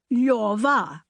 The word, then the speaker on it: Lyova: Position your tongue for an L, O. Then say yor, then say va, Lyova.